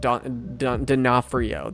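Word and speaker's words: D'Onofrio: Phenomenal acting by Vincent Don Denafhrio, that's how you say his name.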